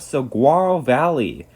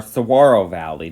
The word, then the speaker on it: Saguaro: And last up on our list, at number 1, we have Saguaro Valley, or Saguaro Valley, depends on if you pronounce the G or not. Some people do, some people don't.